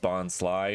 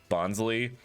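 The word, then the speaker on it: Bonsly: that bonsai is pronounced bon sly not bonsley because it's supposed to be a sly bonsai didn't learn that until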